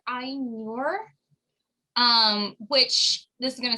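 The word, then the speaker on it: Ainur: book on this so the a i is pronounced like the english i like like i so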